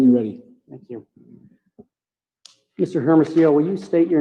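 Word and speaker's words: Hermosillo: may inquire when you're ready thank you mr hermeso will you state your name and spell it for the court ray h-e-r-m-o-s-i-l-l-o thank you what is your current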